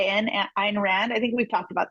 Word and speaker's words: Ayn Rand: It's spelled Ayn, Ayn Rand.